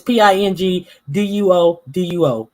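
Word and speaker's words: Pinduoduo: It's Pingduo. I ain't want to say doo doo, but it sounds like doo doo. It's written like doo doo. How I would pronounce doo doo.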